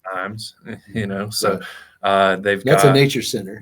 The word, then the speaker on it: Ijams: You also have IAMS, IJAMS, for anybody that looks it up online. It's pronounced IAMS, So that's a nature center.